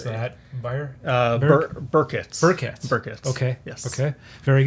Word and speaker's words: Byrkit: How would you pronounce that? Byrkit.